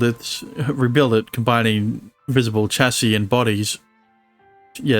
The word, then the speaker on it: chassis: that's a weird one because you got It's pronounced chassis right because the with the S at the